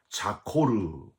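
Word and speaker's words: זכור: 기억하여, 히브리어로는 자코르 이렇게 발음을 하는데 왜 기억하라고 하셨고 뭘 기억하라고 하셨을까요?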